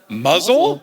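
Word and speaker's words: Mousehole: It's spelled mouse hole. I would guess mouse hole. I would assume mouse hole as well. Okay. Muzzle? Muzzle. Interesting. Real.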